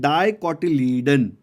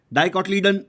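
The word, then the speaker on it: dicotyledon: बोलते हैं डाई कॉटिलीयन डाई कटलिन fast बोलने जाओगे तो स्पेलिंग में मिस्टेक हो सकती है अच्छे से बोलो डाई कटडाउन नहीं डीआई ई नहीं है ये डाई का मतलब टू होता है तो टू पार्ट्स में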